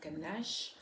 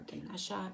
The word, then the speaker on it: Ganesha: are going to connect with the energy of Ganesh or Ganesha everyone pronounces his name a little differently um and